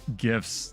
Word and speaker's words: GIF: the dude who made gifs said it's pronounced GIF like the peanut butter oh man we'll try